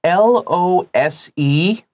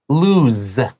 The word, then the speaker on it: lose: And I've had people ask me like L O S E. What's the difference?And so L-O, like if you 失去一个东西、like that is lose, z, the S becomes a Z sound, z, lose.、Mm.